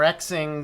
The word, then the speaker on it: Xing: media site it's like Zing I think it's was called um or Xing Zing or Xing it depends on if I guess if you're pronouncing things like Chinese or like a a Westerner um then um all